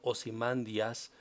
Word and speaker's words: Ozymandias: elegido de ra y usher madera que en griego será pronunciado ozymandias significa la justicia de